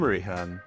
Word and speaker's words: Rehan: Hey there, I'm Rehan, rhymes with Ray-Ban, like the glasses.